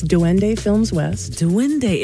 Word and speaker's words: Duende: Duende.